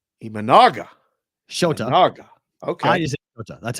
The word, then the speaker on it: Imanaga: two Hoskins had his way and there's your pronunciation sh imanaga imanaga sh okay I that's how I said I